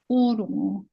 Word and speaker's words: Ōrongo: Ōrongo.